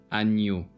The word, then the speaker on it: agneau: GN is pronounced as Ny. as an English word onion. Campagne. Agneau.